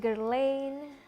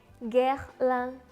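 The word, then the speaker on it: Guerlain: Perancis yang cukup terkenal jadi bacanya bukan girl in atau Hai gelang tapi gehlen kevlar Nah selanjutnya ada Kak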